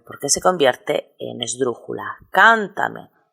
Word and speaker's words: Cántame: se convierte en esdrújula Cántame el mayor golpe de voz recae en la tercera en la antepenúltima sílaba lo mismo ocurre con